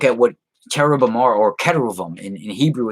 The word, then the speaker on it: keruvim: Or so when you look at what cherubim are, or keruvim in Hebrew, it's spelled Keruvim, right?